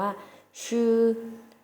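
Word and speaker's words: 吃: แรก ของ เรา นะ คะ คือ คำ ว่า ชื่อ ชื่อ ชื่อ นัก เรียน แล้ว ออก เสียง สิ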